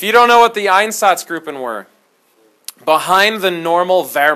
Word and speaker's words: Einsatzgruppen: like you're an idiot I say einsatzgruppen because I can't make the make the gr sound like yeah I can't